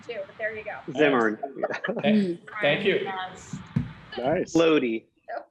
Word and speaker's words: Zimmern: fall issue on the Zinfandel Trail with Andrew Zimmerman. So there you go. And I mispronouncing his name too, but there you go. Zimmern.